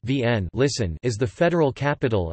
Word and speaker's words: Wien: Vienna, listen, German, Wien, pronounced Vienne, listen, is the federal capital and largest city of Austria, and one of the 9 states of Austria.